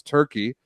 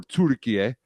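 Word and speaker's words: Türkiye: But that's not how the playoff seedings are exactly, because Turkey, or Turkiye, as they're now being pronounced internationally, because they're hosting the finals in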